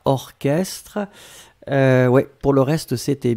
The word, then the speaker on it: orchestre: La première chose c'est orchestre. Souvenez-vous C'est bizarre, mais il existe certains mots qu'on écrit ch, mais qu'on prononce que. Il n'y a pas beaucoup, c'est vraiment une minorité, mais ici, c'est un exemple.